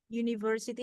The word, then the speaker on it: university: Ada university, ada university. Ya, ini untuk strongnya di silabel ketiga. Third syllable. Ya, university. University. Ya, yang ditekan yang ketiga.